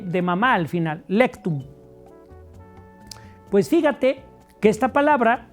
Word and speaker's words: lectum: Y la última está igual como se oye, lectum, con C, lectum. Y M de mamá al final, lectum.